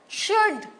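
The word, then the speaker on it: should: पता है ना आपको नाउ इन वर्ड्स में एल साइलेंस है टॉक साम एल नहीं बोला हमने शुड अरे बहुत जन सुड बोलते हैं कुड बोलते हैं अरे एल तो साइलेंट है तो बोलना ही नहीं है एल है लेकिन एल बोलना नहीं है य शुड कुड उड नाउ इसमें एन साइलेंट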